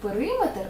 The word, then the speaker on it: периметр: кілометр дециметр але скажімо в слові периметр наголос буде на и тому що це не міра довжини в Славі сантиметр наголос